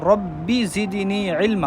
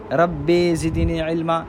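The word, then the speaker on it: رَبِّ زِدْنِي عِلْمًا: نا سراسر غلطی ہے۔ یا رب زدنی علما میں حرف با کی نیچی زیر کو اس طرح پڑھنا جیسے اردو میں بی مثال کہتے وقت بی کا تلفظ کیا جاتا ہے، یعنی اصل میں ہے ربی زدنی علما، اور آپ پڑھیں رب زدنی علما، تو یہ بھی جو ہے نا لحن جلی ہے۔ اب اس کا حکم کیا ہے؟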